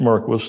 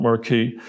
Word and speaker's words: Marquis: You don't find anything out if you don't try it, but Don Marquis, pronounced Marquis, not Marquis, an ignoramus is a guy who doesn't know something that you yourself just found out, and it's true.